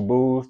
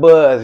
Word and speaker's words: Buz: yeah Instagram Boos that's Boos not Buzz yeah not Buzz it's boobs it's not Buzz Lightyear pronounced like alcohol beer it's Boos